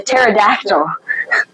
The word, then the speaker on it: pterodactyl: did the patod the pterodactyl I said P he pronounced the p silent P that's in that word think if I said